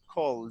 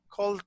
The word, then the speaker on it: called: so it is gonna be a d cult called yes but pronouns the pronunciation of this is very very very difficult